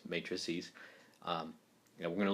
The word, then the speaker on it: matrices: is matrices um so it's not pronounced matrix matrixes it's matrices um and we're going